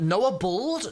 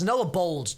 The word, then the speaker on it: Noah Bold: Noah Bald? No, it's Noah Bold, dude. Please pronounce his name correctly.